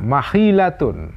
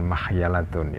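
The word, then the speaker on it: مخيلة: Wa ingkana, jika ada sama di sana makhilatun, ya. Saya lebih suka membacanya makhilatun, bukan makhyalatun, ya. Seperti dalam Darul Minhaj ini.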